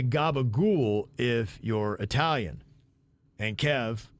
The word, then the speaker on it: capicola: conversation was around this vid said you say Gaba ghoul if you're Italian and Kev copacolo is pronounced gabagool question mark if he says it's weird isn't